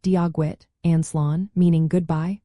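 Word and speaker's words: Dia dhuit: Practice common greetings like Diagwid, which means hello, pronounced Diagwit, and Slán, meaning goodbye, pronounced Slán.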